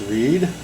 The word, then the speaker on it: Read: And this knife is a collaboration between British part-time knife designer and full-time marine engineer Mike Reed, spells it R-E-A-D. I believe it's pronounced Reed.